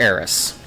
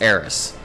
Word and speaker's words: Aerith: It's weird because in this version, it's Eris. Okay. But there was like a translation issue, and they changed it to what the Japanese pronounce, which is Aerith with a TH. But the problem is that they're wrong, and it actually it's because they can't pronounce S or something. Okay. Yeah. So they spell it phonetically.